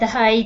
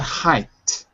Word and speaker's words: high: Marina said that Japan had high humidity. Pronunciation. High. High humidity. Yeah, not height. Or because you're always putting that little extra sound at the end.